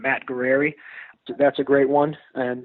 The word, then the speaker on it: Guerrieri: And because you have one of those good Cleveland ethnic names in Guerrieri, we better spell that for our listeners. Yeah, so my last name is Guerrieri. So Matt, M-A-T-T, Guerrieri.